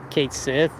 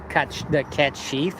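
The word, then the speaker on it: Cait Sith: Because Final Fantasy was under scrutiny for pronouncing it Kate Sith. And the actual pronunciation is cat sheath or something like that. Cat, Kate, I don't know. But it's sheath, it's not like Sith.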